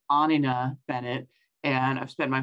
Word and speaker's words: Anina: pronounce my name and don't feel bad about mispronouncing it it's anina Bennett and I've spent my whole life correcting